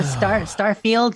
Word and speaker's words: Starfield: It's a Starfield, just pronounced like that. I've heard someone the other day said I pronounce it like I pronounce Garfield with 3 syllables. I'm like, Starfield. how do you get 3 syllables?